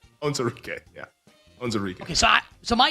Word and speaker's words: Onwuzurike: How do you pronounce his name, the defensive lineman? Levi Onwuzurike. Onwuzurike, yeah.